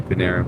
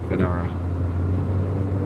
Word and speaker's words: Panera: I don't think it is cuz it's a E. It's like a er. So no, it couldn't be Panera bread. Panara. Panera. Panera. Panera. Paneer bread. No, it is. It's Hold on. I don't know how to spell it. It is panera. It's smelled. It's spelled panera. Yeah, I think everybody says na panera. Panera. There it is with a e and everything. Panera. I'm going to start saying it that way.